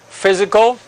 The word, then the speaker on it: physical: Y quiero que aprenda entonces a escribir physical con PHY, physical, and it is pronounced with the Z sound, physical training, technical